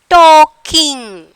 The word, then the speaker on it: talking: And then talking, talking. Which word is silent? L. We are not pronouncing the L.